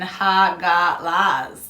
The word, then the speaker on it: Hagalaz: Also known as Hagal, Hagael, pronunciation Hagalaz.